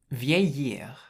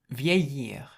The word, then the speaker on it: vieillir: So if you look at the infinitive, it's pronounced vieillir, vieillir. And so you have V, which is the VI. The EI is pronounced A, so that's vieilli. And then the double L is pronounced like a Y in French. And then you have the IR, so it's vieillir.